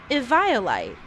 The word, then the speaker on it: Eviolite: And apparently the proper way to pronounce Eviolite is actually Eviolite.